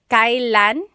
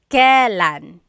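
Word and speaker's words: kailan: It's pronounced kylan. Kylan, but you will often hear it pronounced Kellan.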